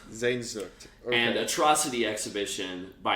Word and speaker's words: Sehnsucht: How do you pronounce it? Sehnsucht. Sehnsucht.